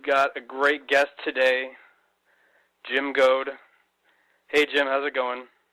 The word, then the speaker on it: Jim Goad: is Mark we've got a great guest today Jim go hey Jim how's it going oh fantastic you you pronounced my name correctly too you know in